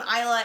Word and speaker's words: Isla: I know you're probably sitting there going, why the heck is she pronouncing this name Isla? It totally looks like Isla, and I've been pronouncing it Isla for the last year, but they explain in